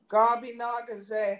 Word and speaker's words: Gabi Nagaze: So we put it in syllables. So when we write it out, that's what it's going to look like. Gabi Naga. Say ga, try it. Ga be na ga say.